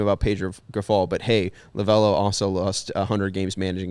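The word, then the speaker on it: Lovullo: Lovello, I believe.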